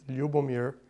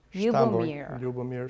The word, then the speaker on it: Ljubomir: When I say, and it just sounds, and how do you pronounce the whole name? I know it's a nickname. It's a wonderful name, actually. It's Ljubomir. Ljubomir in the original language.